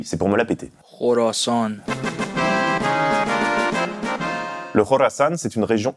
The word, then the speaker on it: Khorasan: Moscou l'État islamique au Khorasan oui ça se prononce comme ça et oui c'est pour me la péter jorasan le jorasan c'est une région historique dont les